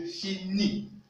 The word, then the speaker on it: finis: Je finis. Vous notez que le S n'est pas prononcé.